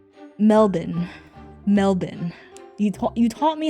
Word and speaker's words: Melbourne: Don't say Melbourne because that's what the Americans say. Don't say Melbourne. It's It's apparently Melbourne.